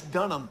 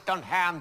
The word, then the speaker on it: Dunham: last name i know it's dunham not when you look at it it says don't ham just on hand you're